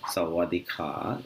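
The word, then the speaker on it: สวัสดีค่ะ: concerned for greeting people the way they say hello is sawadhika sawadika and sawadika is for girls when the girl is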